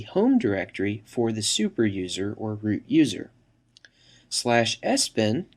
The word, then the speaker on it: usr: system administrator slash usr often pronounced slash user which contains software that